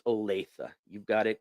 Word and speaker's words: Olathe: So tempting to say Olathe or Lathe, but it is Olathe.